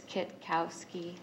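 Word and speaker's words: Kitkowski: down like you did it's Kit Kowski just like it's spelled it's just look kind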